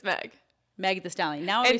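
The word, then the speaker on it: Megan Thee Stallion: Megan the how do you say her name Meg the megallion just Meg no that sounds like Megalodon it's Meg the stallion Meg the stallion is it Megan the stallion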